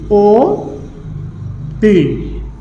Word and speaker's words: অতি: উচ্চারণ হবে কি? ও তি, অতি উচ্চারণ হবে।